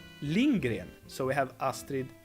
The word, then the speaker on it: Lindgren: I pronounce her name Lindgren so we have Astrid Lindgren not Linda Gary what's up party people